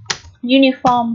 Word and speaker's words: uniform: Uniform là bộ đồng phục, đúng không nào? Chữ U ở đây được phát âm là âm U. Ký hiệu phiên âm là G và U, đúng chưa nào?